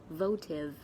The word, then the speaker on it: votive: regarding votive offerings and remember to pronounce the word votive properly vote Oh vote votive it's as shortly so votive votive offering